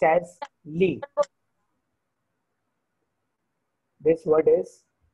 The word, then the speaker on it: lit: Bed is L-I-T. It is pronounced as lit. This word is pronounced as lit. T is silent.